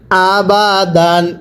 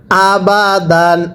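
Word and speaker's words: أَبَدًا: আহাদুন এবার একসাথে পড়ুন হামজা জবর আ বা জবর বা আবা দা আলিফ দুই জবর দান আবাদান কিভাবে পড়ব আবাদান আরো একবার আবাদান আরো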